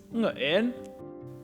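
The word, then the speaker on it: Nguyễn: How do you pronounce it? The answer is Nguyen.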